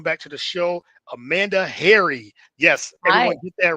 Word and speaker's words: Hari: Harai, I'm assuming. I'm sure they butcher it a lot, but it Yeah. Yes. But as you said, it's like Harry like the like a